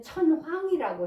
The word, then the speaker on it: 천황: 꼭 우리는 천황이라고 해야 돼요. 난 이게 싫어서 천왕 이렇게 저는 발음해요. 그런데 이게 공식 명칭이래요. 그래서 어쩔 수 없이 천황이라고 사용하는 게 맞다고 하네요.